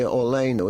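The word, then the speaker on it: Aleinu: No, in this piece we say olenu. In this piece we say alenu. But in this piece that I wrote, we say alenu, because that's how it's pronounced nowadays.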